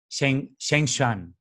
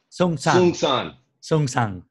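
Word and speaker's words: Seung Sahn: And he moved into the Providence Zen Center in the US in 1984, studying with Zen Master Sheng Shan, right? Did I say it properly? Sung San.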